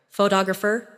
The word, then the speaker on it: photographer: The stress moves, and that changes the sound. Try saying them slowly after me. Photograph, photographer, photographic.